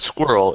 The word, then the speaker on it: squirrel: Like the word squirrel is fucking hard for them to say. Yeah. Japanese student. So I write like SK dash and then were and then dash roll.